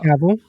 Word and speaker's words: Cavill: Uh Henry Cavill aka Jesus or Cavil. Cavil. Is that how it's pronounced? Uh Caval. Okay, Caval. I got it right the first time.